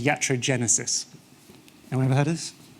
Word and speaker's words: iatrogenesis: Pronounced iatrogenesis.